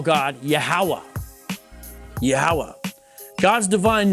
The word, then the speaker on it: Yahweh: would transliterate to yhwh it's almost like a breath yahweh those are probably most likely the vowels that should be provided most likely pronounce it as yahweh jews in the modern